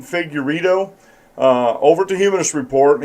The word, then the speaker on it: Figueredo: Humanist report with Mike Figueredo is how you pronounce his name, Figueredo, over to Humanist report.